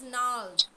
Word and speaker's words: gnarled: It is nald. We don't pronounce the G here.